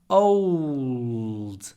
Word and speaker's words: old: When you pronounce the word old, try not to say old. Old. Try to put in a w. It's like saying old. And the l is dark l, which is pronounced with the tip of the tongue down, and this part up.